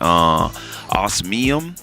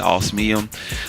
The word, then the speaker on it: Osmium: Osmium. That's how you say it, Osmium.